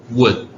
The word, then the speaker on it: wood: WOD하고 WOULD하고 사실 W가 발음이 되게 어려워요. 굉장히 따라해봐요. wood.